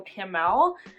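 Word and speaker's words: Chamuel: it was a certain Archangel in here Archangel Kimmel and that's how you pronounce it but he helps you find things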